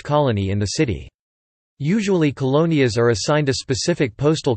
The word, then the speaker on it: colonias: In general, colonias (Spanish pronunciation: colonias) are neighborhoods in Mexican cities, which have no jurisdictional autonomy or representation.